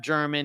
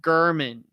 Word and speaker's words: German: it looks like Jeff German it's actually Jeff gurman so you pronounce it g-u-h-r-m-a-n-n even though it looks like German with an N on the end Erman German I talked